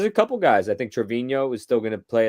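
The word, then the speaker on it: Treviño: answered my question what how to pronounce it everyone is Trevino and I've been saying Trevino this whole time it's Trevino who's got the Enya on the end but yeah we'll continue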